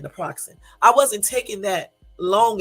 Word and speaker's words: naproxen: That's how you say it, naproxen.